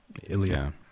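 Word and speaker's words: Ilja: Ilia. Yeah, Elijah.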